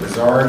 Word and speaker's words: Bizard: You're David, is it Bizarre, is that how you pronounce it?